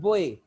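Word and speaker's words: boy: जैसे ये वर्ड है आपके पास बोए, ये बॉय नहीं है, ये है बोए। असल जो इसकी ट्रांसक्रिप्शन या प्रोनाउंसिएशन है ये है बोए।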